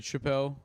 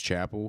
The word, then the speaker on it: Chappell: My whole life people said Chappelle, and I had to like correct them. It was Chapel because that's what we say is Chapel.